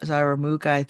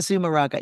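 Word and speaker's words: Zumárraga: the bishop and everyone that was there, Bishop Zaramuga, I can't remember, I can't say his name. Anyway, it's just so powerful. And Zumaraga. Zumaraga, yeah, I was like, how do you say that name again? Zumaraga, yes.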